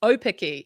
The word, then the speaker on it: Aupiki: because um firstly congratulations opy so the Au sounds correct yeah so the Au sound in is an o sound so yep op is what we're dealing with there um po um